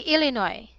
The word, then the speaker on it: Illinois: read this word Illinois it should be Illinois Illinois yeah so it is a silent s okay Illinois yes okay